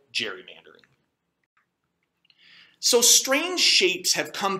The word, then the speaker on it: gerrymandering: the name gary mander after governor elbridge gary which we then proceeded to mispronounce to the point that we now call it gerrymandering so strange shapes have